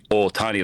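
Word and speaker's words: Ohtani: It's like Shohei Otani, like there's a little bit a little bit of the O, right? Because that's just how you pronounce it.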